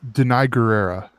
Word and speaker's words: Danai Gurira: call her Michonne but I do it it's Danai gurira and then two Chile's sister Leticia ray she